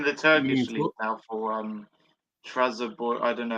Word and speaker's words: Trabzonspor: Yeah, he plays in the Turkish league now for Trabzonspor. I don't know how you say it. Trabzonspor. Trabzonspor, that's it.